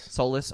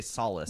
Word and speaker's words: Solus: It's Solus. Solus? Okay. I didn't want to say solace. Like the 'cause sun. I don't want to call you Quantum of Solace. the Solace. No, it's Solus, like sun.